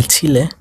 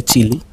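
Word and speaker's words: Chile: মনে রাখবেন একটা দেশও কিন্তু আছে একই নামে, চিলে নামে একটা দেশও আছে দক্ষিণ আমেরিকাতে, যেটাকে আমরা ইংরেজিতে বলি চিলি, কিন্তু স্প্যানিশে উচ্চারণ হয় চিলে।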